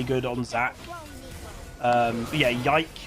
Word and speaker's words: Yike: But yeah, Yike is how you say it.